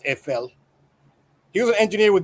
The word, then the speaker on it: Eiffel: It's pronounced EFL.